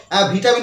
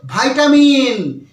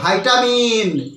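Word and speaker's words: vitamin: আছে একটু ডাক্তারের কাছে যাও ডাক্তার তো কোন ভিটামিন প্রেসক্রাইব করবে তুমি সুস্থ হয়ে যাও আমরা এরকম ধরে বলে থাকি বাট সবসময় মাথায় রাখবে এটা ভিআই টি এম আই এন এটার উচ্চারণটা আমরা বলি যে ভিটামিন বাট এটার সঠিক উচ্চারণ কিন্তু ভিটামিন নয় এর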